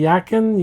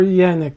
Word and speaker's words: Yanick: you say say it, as long as you don't call me Yaken, Yak, or anything, I go by Nick or Yanick, depending on if the person's having issues trying to say my name, right?